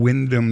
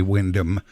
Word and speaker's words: Windham: Well, the studios here are in Windham, New Hampshire, but all the new people say Windham. The old money would say, "Oh no, we're from Windham."